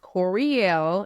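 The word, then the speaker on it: Courie11e: follow me on Instagram it's kind of part of my name but it's pronounced Corel and I'mma spell it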